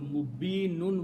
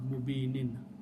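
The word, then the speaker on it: مبين: And when you stop, you will pronounce mubin, not mubinin.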